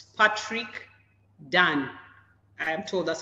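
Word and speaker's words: Dunne: And it's Patrick Dan. I am told that's how it's pronounced.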